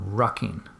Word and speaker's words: rucking: turned on to something that I have to spell it out so your listeners don't mishear me, but it's an exercise called rucking.